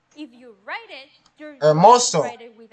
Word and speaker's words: hermoso: For example, someone of you wrote, México es hermoso. México es hermoso. Mexico es hermoso, because then you would be wrong. México es hermoso. Even though it's hermoso, you don't pronounce hermoso. The H.